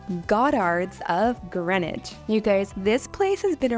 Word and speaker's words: Greenwich: So we decided to head east to a part of London called Greenwich. Now I know it looks like you would say Greenwich, but we quickly found